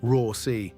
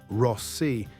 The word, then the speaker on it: Rossi: Americans stretch it out, Rossi, like the word boss. Italians cut it short, Rossi, with a double S you can actually hear.